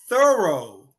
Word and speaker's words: thorough: you have you seen okay it's we say thorough thorough very difficult very diff yes yes thorough